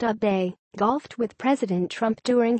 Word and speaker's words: Abe: AFP Getty Images Abe pronounced a bay golfed with President Trump